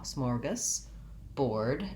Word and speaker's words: smorgasbord: So s'more, and then the GAS syllable is short and unstressed, has the schwa, smorgas, board, and this is just like our word board, like a chalkboard or a board meeting, and it's just spelled with OR.